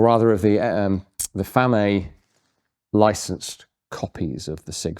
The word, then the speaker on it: FAMAE: So, it's uh the product of F A M AE or FAM is how I tend to pronounce it. I'm not sure if that's how it's pronounced in Chile, which is where this is from. Designed and made in Chile.